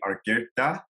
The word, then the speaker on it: Argueta: Hey everyone, here, and today I have Rony Argueta on with us. How is that pronunciation of the last name?